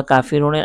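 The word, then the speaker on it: الْكَافِرُونَ: আমরা আওয়াজ না বলে আমরা শুধু বানানটা বলবো উচ্চারণটা বলবো কা ফি রুনা কুল ইয়া আইয়ুহাল কাফিরুনা এ হচ্ছে মূল আয়াত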